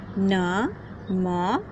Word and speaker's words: नमः: अब हमने यहाँ पे लिखा न म अह की मात्रा नमः। नमः कैसे पढ़ेंगे हम लोग? कैसे नमः बनता है? न यम म जम अह की मात्रा विसर्ग, तो यह बनता है नमः, मतलब नमस्ते। इसे कहते हैं नमः, नमस्ते।